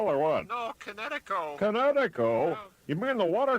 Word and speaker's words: Kinetico: Oh, East Coast, son, little you should have remembered kinetic as in kinetic energy with an O on the end. Kinetico.